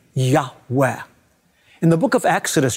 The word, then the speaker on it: Yahweh: on God's covenant name which we believe is pronounced a breathy Yahweh in the book of